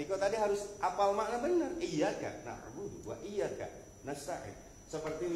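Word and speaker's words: إِيَّاكَ نَعْبُدُ: Yang benar adalah iyaka iyaka. Iyaka bisa na'budu iyaka hanya kepada engkau na'budu kami beribadah. Tapi kalau kita membacanya misalkan kita gabungin iya kanaudu. Kanaudu ini sudah beda artinya Pak'budu seperti kami beribadah.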